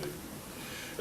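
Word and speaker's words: Lu: Lindsay Lee, her name is spelled L-U, but they tell me it's pronounced Lee, so people have criticized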